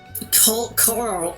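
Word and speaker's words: Coeurl: It's pronounced more like coral. The problem is I can't pronounce. I have rhoticism. I can't pronounce all R's very easily anyway. Cur. I'm gonna say cull.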